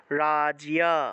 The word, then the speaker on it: রাজ্য: ইয় রূপে হবে তাহলে সেক্ষেত্রে রাজ্য আছে সংস্কৃত উচ্চারণ করব রাজিয়া অর্থাৎ জফলা যে জায়গাতেই